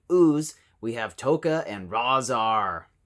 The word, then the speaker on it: Rahzar: have toca and razar i swear i've heard it said both ways the name pronunciation you guys all know what i'm talking about but randy falk says razar there's an r-a-h it implies that sound right am i am